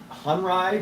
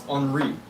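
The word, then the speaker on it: Henri: Robert enri uh the the book pronounced Robert hry but I think it's unri but anyway um I've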